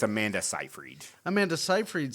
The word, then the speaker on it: Seyfried: It's a weird spelling to it's not phonetically spelled. Yeah, it's I'm all weird. fucked up when I try to read But that. it's Amanda Seyfried.